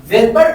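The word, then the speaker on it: Svedberg: ভেটবার্গ নামক বিজ্ঞানী সর্বপ্রথম এই রাইবোসোমের ইউনিটগুলোকে আবিষ্কার করেছেন, আর এই জন্য আমরা s শব্দটা ব্যবহার করি। s মানে হচ্ছে কি? ভেটবার্গ। ওর প্রথমেই একটা সাইলেন্ট s রয়েছে।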